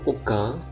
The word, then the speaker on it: aucun: Kemudian AU dibaca O, aucun, dan satu pun.